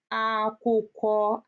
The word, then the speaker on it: akwụkwọ: KW is pronounced as kwa. So K and W together, kwa. Example, akwụkwọ.